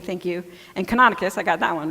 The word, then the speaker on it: Canonicus: Montanomy, thank you, and Canonicus, I got that one right.